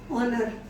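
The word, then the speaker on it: honour: जैसे ऑनर, एच को करा ऑनर में, ऑनेस्ट में, आर में।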